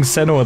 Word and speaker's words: Senua: Why do you pronounce it Senua? I don't know. I mean, they've been saying Senua the whole time.